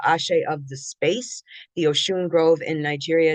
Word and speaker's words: Oshun: Usually Oshune in Yoruba has a tat umlot thing over the U, but it's pronounced Oshune.